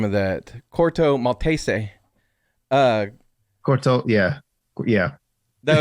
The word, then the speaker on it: Corto Maltese: you would label them but that's how he pronounced it corto maltese i was like well that is how you would pronounce it but anyway but most people call it quarto maltese uh which is a made-up place but um